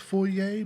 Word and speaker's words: foyer: that's stuck with me I've never heard that pronunciation but when I looked into it he is actually correct it is most likely pronounced foer but when I was doing my research I found it both ways so I'm not